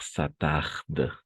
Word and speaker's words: s'attardent: Et les chanteurs s'attardent.